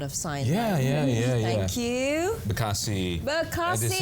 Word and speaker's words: Bekasi: So I just found out that this is how you actually say Bekasi.